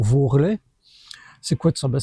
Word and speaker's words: varlet: Quel varlet voit taper les mains sous bixeuch les longs joues de l'esté. Varlet, ou, comme on prononce pour vorlet, c'est quoi de ça?